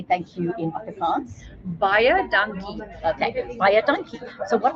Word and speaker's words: baie dankie: So what I tell people is if it's baie dankie, write it out phonetically, and baie dankie is quite an easy one because it's like buy a donkey.